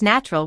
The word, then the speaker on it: natural: Elizabeth, a member of the Speak Real English audience, is curious as to why we pronounce natural with a ch.